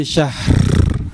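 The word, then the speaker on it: شهر: Jangan lupa digetarkan huruf rnya ya.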